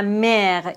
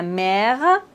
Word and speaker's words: mère: Mais en fait, il y a quelques exceptions, comme par exemple la mère. Ici, on doit prononcer le R. Ou bien cher, la mère, cher.